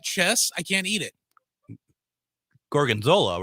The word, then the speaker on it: gorgonzola: favorite things was, and I finally learned how to pronounce it after like 4 times, gorgonzola. And I would always call it, I'll take the steak Gonzaga.